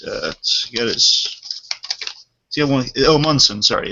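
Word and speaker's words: Omundson: the show and uh his name is Timothy omand if I'm pronouncing his name right uh got his one omson sorry it's Timothy omson now for those who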